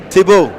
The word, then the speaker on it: Thibault: Thibault.